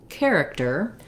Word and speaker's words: character: at the word character we have first syllable stress so the care syllable is stressed and the other two syllables are shorter and have reduced vowels because it's stressed we have a clear vowel in that first syllable and we have an unusual spelling where our ch sound says the c or k sound so i'll write that just like the word care because the beginning of